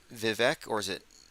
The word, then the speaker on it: Vivek: it spelled or it's Vivek or is it someone said it rhymes with fake like I gotta get